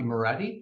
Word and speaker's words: Moretti: well good morning my name is Moretti mored is spelled m o r TTI and I'm the